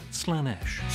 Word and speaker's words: Slaanesh: But Slaanesh isn't one of them. Pronounced Slaanesh.